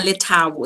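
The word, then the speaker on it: Lethabo: Yeah, Letabo. It's more of a T and not the H is silent.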